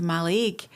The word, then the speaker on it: Mallaig: asked to go to Mallaig. I don't know where Mallaig was. I genuinely thought it was Malaga they wanted to go to. They just pronounced it wrong.